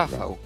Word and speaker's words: Rafał: You can Adam, say my name in Polish to It's to Cobra. Rafał. Rafał. Yeah, it's the correct pronunciation.